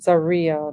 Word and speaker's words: Zaria: Okay, Zaria, that's how you say her name. She just clarified it for me.